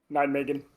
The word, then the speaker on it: Nijmegen: I'm sorry, but I don't know how to pronounce it. Nijmegen.